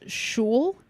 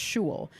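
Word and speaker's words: Xolo: is a place called shul but it's spelled x-o-l-o okay but I'm pretty sure it's pronounced Jewel they uh they got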